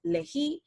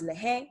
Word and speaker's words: lehi: Okay, and that part will be pronounced usually as lehi, sometimes lehe, but usually lehi.